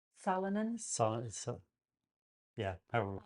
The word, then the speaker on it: solanine: a particular product in nightshade, uh, solonin, solonin, So, Yeah, however we pronounce it. Solanine.